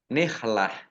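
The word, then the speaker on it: نحلة: Soduqotihinna nihlah. Nah, ini tak marbutoh fathah tanwin. Kalau wakof atau kalau berhenti dibacanya hak sukun. Nihlah dibaca pendek karena tidak ada tanda panjangnya.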